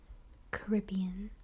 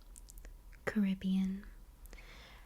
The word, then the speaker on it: Caribbean: Caribbean. Caribbean. However, only in the case of saying Pirates of the Caribbean, I would say Caribbean instead of Caribbean.